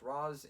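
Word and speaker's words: Ra's: taken by Richelle ghoul it's pronounced Rose in the film and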